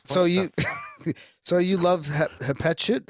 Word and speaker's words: Hatshepsut: So you, so you love Hatshepsut?